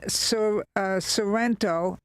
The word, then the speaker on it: Sorrento: I was in Sorrento. That's how you pronounce it, I believe, north of Naples there.